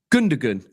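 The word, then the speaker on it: Gündoğan: The G doesn't really get pronounced. So pronounced. Sorry. So what is it? Gundogan. Gundogan. Oh, Gundogan. Oh, okay. Gundogan.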